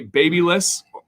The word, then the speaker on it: Babyliss: we went with a baby list i know there's def different ways to pronounce it uh but that's the way i say it cause i'm from america we went the babyliss rapido